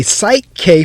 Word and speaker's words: PSYCH-K: that is how we say it i'm a psych k facilitator but i prefer to think of myself